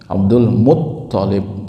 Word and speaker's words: Abdul Muttalib: Abdul Muttalib pakai tasydid Bapak-bapak ya.